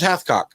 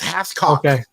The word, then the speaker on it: Carlos Hathcock: Is it spelled the way it sounds? Yes, it's spelled the way it sounds. Hathcock.